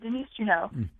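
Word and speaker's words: Denise Juneau: a little bit more different tell us about Denise Juno am I saying it right is it Juno or Juno it's uh Denise Juno and uh the funny well I don't know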